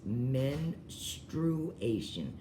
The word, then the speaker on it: menstruation: I am but anyway this is how you pronounce it it is men true Asian I know everybody says ministration or menstruation or whatever it is